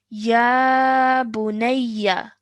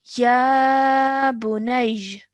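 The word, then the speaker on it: يا بني: Now, when we want to pause, what happens is that this fatha turns into a sukoon. Okay. And when that happens, we pronounce it as Ya Bunayj. Ya bunayy. Good. Well done. So a slight j sound at the end.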